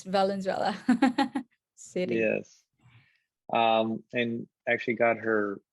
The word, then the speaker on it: Valenzuela: confused with Venezuela, but the country, but Yeah, yeah, it's Valenzuela city.